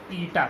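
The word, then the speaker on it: eta: पढ़ते इसको क्या है, पढ़ते हैं ITA, ईटा प्रोनाउंसिएशन है इसका। और इस तरह के बहुत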